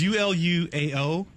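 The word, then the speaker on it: Uluao: my first name is ULU AO and that's why I go by so okay how do you pronounce it so the way you pronounce it is ulua ulua and then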